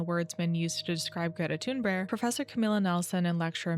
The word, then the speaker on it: Greta Thunberg: And I am saying Greta Thunberg because I asked my Swedish friend how to pronounce it, and this is what they told me to say.